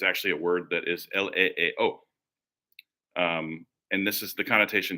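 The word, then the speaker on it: ἐλεέω: How do you pronounce it? Leeo. That's how you pronounce it. The spelling is ELEEO. Leeo.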